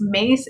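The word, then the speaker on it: Myss: her name is spelled it's mace it's spelled m-y-s-s so pronounce that yeah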